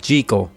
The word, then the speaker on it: Jekyll: jekyll and mr hyde in this movie it's pronounced jiggle but whatever frederick march is fantastic